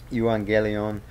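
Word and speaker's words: εὐαγγέλιον: for this particular word you angelion which uh you know in modern Greek they would pronounce that EU into EV so that's how you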